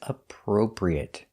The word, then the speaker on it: appropriate: our next word is appropriate this word is difficult to pronounce because you have the per sound two times appro so practice this